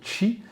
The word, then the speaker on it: qi: Le qi, c'est l'énergie, parce que oui, effectivement, on prononce qi, c'est l'énergie issue de justement le sang.